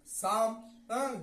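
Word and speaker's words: psalm: psychology साइकोल में मनोविज्ञान सस से पहले प आए तो साइलेंट होगा जैसे साम जिसका माने होता भजन और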